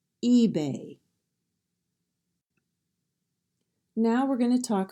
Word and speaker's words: eBay: first syllable is stressed maybe the next word is EBA a common website in the United States the first syllable is stressed eBay now we're going to